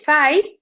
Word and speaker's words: thigh: then you've got a thigh which is silent so the gh you don't hear that or you hear the